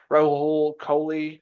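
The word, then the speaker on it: Rahul Kohli: You know, uh Raul Kohley is how you pronounce it.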